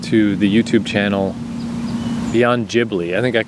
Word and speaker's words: Ghibli: the youtube channel beyond ghibli i think i said beyond ghibli you know studio ghibli i don't know why it's a soft g everything in japan is a hard g evangelion you know why